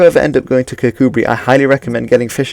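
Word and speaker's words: Kirkcudbright: and then one of cuckoo Bri which is how you pronounce that we even though it doesn't look like you should pronounce it like that and if you do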